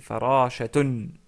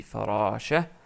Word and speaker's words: فراشة: Ensuite, on rajoute le ta marbuta parce que c'est farashatun. Mais comme on s'arrête sur le mot, on dit farasha. On l'écrit, mais on ne la prononce pas.